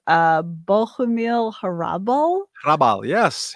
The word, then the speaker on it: Hrabal: Czech writer whose name you will help me pronounce, Bohumil Hrabal. Hrabal, yes. Hrabal?